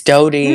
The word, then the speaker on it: Dodie: i've been listening cool is it pronounced dodie or is it duty cody clark dodie clark it's dodie no it's not dude